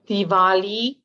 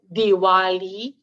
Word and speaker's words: Diwali: this Festival the celebration is known by a few different names Diwali Diwali or deepavali and it all depends on which part of India you come from uh that that would determine the pronunciation of the celebration also